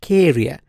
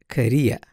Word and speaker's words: Korea: and they say it Karia but it's not clear the stress is on the second syllable and is Korea Korea Korea this one